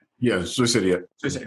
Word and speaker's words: Sioux City: Did I pronounce that right? Yeah, Sioux City.